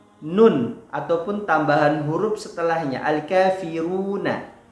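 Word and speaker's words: الكافرون: Namun Al-Kafirun ini adalah surah yang matnya berada di akhir dan dia memiliki tambahan nun ataupun tambahan huruf setelahnya, Al-Kafiruna. Ketika diwaqaf menjadi Al-Kafirun.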